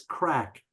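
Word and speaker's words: craic: there too so no it's actually spelled a bit little bit different c r a i c but the pronunciation is crack exactly the same friends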